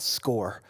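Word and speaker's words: SCOIR: has um a platform called score I know it's spelled a little funky um s c o i r um and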